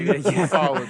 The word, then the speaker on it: ufology: Pronounced ufology.